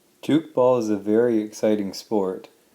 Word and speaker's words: Tchoukball: defense against an opponent juke ball is spelled TCH o UK ba ll so it's an interesting